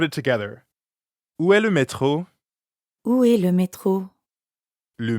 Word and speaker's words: métro: And the French R is in the middle of métro, so it sounds like you're clearing your throat.